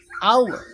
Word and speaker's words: hour: pengucapan dia huruf hidup Kenapa karena h-nya dibaca di Awali ada kata a ya A Ya hour Maka kalau menunjukkan satu